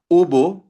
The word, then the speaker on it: hubo: So very useful ubo ubo muchas personas and la reunion maraming tao ang dumalo sa meeting again ubo hindi siya hubo silent h ubo ubo unidente and lakay